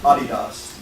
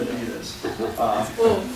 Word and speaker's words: Adidas: Yeah, big ad agency, and as one of the things I learned with them is one of their big accounts is Adidas, not Adidas.